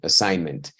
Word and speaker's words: assignment: because spine ticklers Goosebumps pay attention to the word assignment by the way the G doesn't sound right assignment every time you see